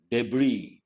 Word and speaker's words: debris: Debris. What is the meaning of debris? S is silent.